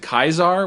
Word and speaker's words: Caesar: just realized that like the game wanted us to pronounce it kaisar which is like the fancy old timey way oh really because we're